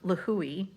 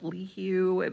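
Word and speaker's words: Līhuʻe: kauai so um lahui i'm so glad i finally know how to say that because i was calling it like lee hugh i didn't know how to say it once i got there i learned that it's lahui so uh we left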